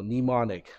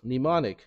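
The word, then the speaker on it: mnemonic: n i c so nimonic the first m is silent is that a French word demonic it's Latin okay and what does it mean what does demonic mean yep that's what it is nimonic a device such as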